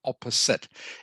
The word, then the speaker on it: opposite: here opposite opposite okay it's one of those silly English words that is pronounced a little bit differently than what it looks okay so it is pronounced opposite if if you just